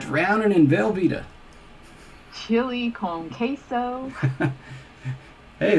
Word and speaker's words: queso: in velveeta chili calm queso hey at least you say queso and not quaso i mean that's something